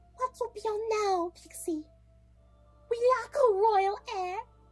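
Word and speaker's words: Pxqi: Her name's Pixie, but it's spelled P-X-Q-I. Pixie.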